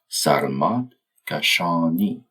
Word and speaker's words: Sarmad Kashani: Throughout the episode, I'll be using the Persian pronunciation with the stress on the final syllables of each word. Sarad Kashani that reflects how his